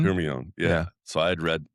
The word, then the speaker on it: Hermione: Like, how did you pronounce Hermione's? Yeah, Hermione. Hermione.